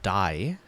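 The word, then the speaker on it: 大: It is pronounced dai, like daigaku.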